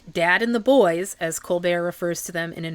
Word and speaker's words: Colbert: But you may have noticed how very deliberately I have pron been pronouncing Colbert. That's because the youngest of the doctor's 11 children does not pronounce his last name that way. He pronounces it Colbear, as in Steven Colbear, comedian and talk show host.